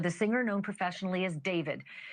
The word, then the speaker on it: D4VD: Literally, for the singer known professionally as David, spelled D4 VD. I know it's strange, but it's pronounced date.